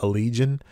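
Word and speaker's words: Allegaeon: mechanics the band is called I guess you pronounce it allegion Al l e g a e o n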